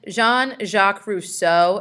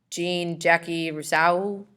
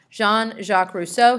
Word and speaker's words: Jean-Jacques Rousseau: foreign rights and then jean-jacques Rousseau is how you say his name not Jean Jackie Brousseau or however you would want to say it jean-jacques Rousseau he's French he is